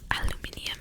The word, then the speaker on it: aluminium: purple as i say aluminum aluminum aluminium is how they say it like a british accent i think next we